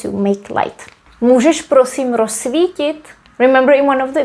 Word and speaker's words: rozsvítit: And here, because the z and s are together, this would be pronounced as s. We pronounce it as just one s. So we say rozsvítit, rozsvítit. We don't say rozsvítit or rozsvítit. We just say rozsvítit.